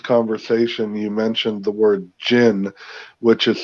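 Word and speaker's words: djinn: that there's um the good people without the gins in them are doing good and they raise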